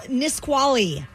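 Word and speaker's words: Nisqually: All right, Randy, spell Nisquali.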